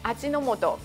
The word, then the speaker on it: Ajinomoto: 味之素，而日文发音叫做阿基诺莫多，继而开